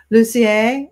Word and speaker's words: Lussier: But thank you so much again, JoAnne Lussier, as I would say up here in Eastern Ontario, where we have a lot of French people.